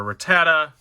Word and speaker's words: Rattata: And we have a Rattata. Yes, that's how you pronounce it.